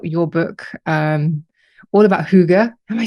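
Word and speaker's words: hygge: we talked about your book um All About Huga am I saying it right I always you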